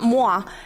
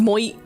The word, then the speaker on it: Mu: it's in the voice it's not moah which they just spelled it like Mah which is phonetically correct I guess but his voice line in that game makes you realize no it's pronounced mu um so popo Valley